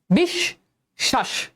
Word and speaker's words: বিশ্বাস: এবার দেখ স এর উচ্চারণ কিন্তু দুইবার হচ্ছে। বিষ শ্বাস বিশ্বাস বিষ।